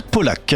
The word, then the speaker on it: Pauillac: Ça peut se prononcer Pauillac, mais en fait ça se prononce Polac.